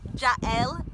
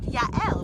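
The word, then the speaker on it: יעל: And from the Bible story of, you might know her as Jael, J-A-E-L, but in Hebrew it's pronounced Yael, which is my name.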